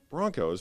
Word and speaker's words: Bronchos: Broncos, but it's spelled Bronchos.